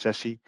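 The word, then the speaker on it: SASE: so Sashi is Pro s a e is pronounced Sessy it's a it's a term C up by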